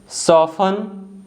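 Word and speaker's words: soften: The letter T is silent when it comes after the letters S एंड एफ। जो letter T है अगर letter S and later F के बाद आता है तो टी साइलेंट होता है।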